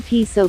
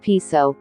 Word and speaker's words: Piso: The New Testament, the Church, and Christianity, were all the creation of the Calpurnius Piso, pronounced Peso with long e, family, who were Roman aristocrats.